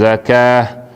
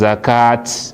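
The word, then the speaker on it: الزكاة: You know go stand and say wa yu'tuz zakat. You know go pronounce na ta. When you stop on top ta marbuta, you stop like say you stop now on top ha. So you go bina zakah small they come out at the end.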